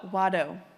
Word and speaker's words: wado: What's the pronunciation of that first word? Oh, wadd. Oh, okay. It's thank you and Cherokee.